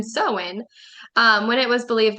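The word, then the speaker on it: Samhain: the night of October 34 they celebrated um sahain I think is how you say that oh um actually it's pronounced soen it's spelled s m ha a i n but up here it has the pronunciation soen um when it was believed that ghosts ghost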